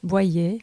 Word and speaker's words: Boyer: How would you say it in French? Boyer. It's very close. Yeah, most people get it quite right, actually, here in America.